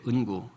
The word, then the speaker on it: NGU: 포기하지 마라.이 영화의 머리 글자 ngu를 따 가지고 만들어서 발음을 은구라고 했대요. 은구. 구가 아니고 은구.